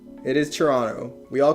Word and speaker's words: Toronto: there in at the end but it it is silent it is Toronto we all call it Toronto and I lived